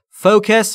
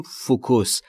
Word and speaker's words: focus: Focus همون چیزیست که ما در فارسی میگیم فوکوس. Focus. تلفظ درستش در انگلیسی focus.